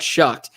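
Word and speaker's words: Shough: It's so weird hearing it pronounced Shuck now that we know it's actually Shuck.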